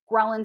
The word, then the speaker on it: ghrelin: And that other one that I can't remember or pronounce, Ghrelin. Yes. Ghrelin? Yes, ghrelin. Think of gremlin, and that'll probably just confuse you.